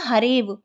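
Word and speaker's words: हरेऽव: का पद बन जाएगा पढ़ा नहीं जाता केवल लिखा जाता है तो इसका जो सही उच्चारण होगा इस पद का वो होगा harev लेकिन जब हम लिखेंगे तो avgrah भी बीच में लिख देंगे इसी प्रकार विष्णु प्लस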